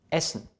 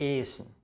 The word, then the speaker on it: essen: Oder essen, nicht esen, essen, ein kurzer Vokal vor einem Doppelkonsonanten. Kommen oder essen, zum Beispiel.